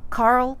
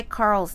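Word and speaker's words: Qarl: a r l but George has chosen q a r l q making theq sound adding ARL you get a new word quarrel which by definition means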